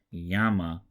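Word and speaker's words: γάμμα: Now the G sound is a little bit softer than it is in English, so yama is kind of between the G in go and the Y in yellow.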